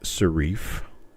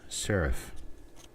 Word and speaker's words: serif: and no boys and girls it is not pronounced shif it is not pronounced saraf it is pronounced sarif and that is a tail for design at